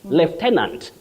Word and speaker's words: lieutenant: Lieutenant, that is in British English. Lieutenant, but then American, lieutenant.